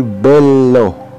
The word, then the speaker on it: bello: Double consonants must be clearly sounded. Halimbawa, bello. Ito ay bello.